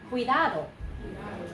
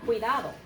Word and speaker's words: cuidado: this we so there it is qui Oh cuidado cuidado okay let's try it one last time cuidado everybody in this room who is a native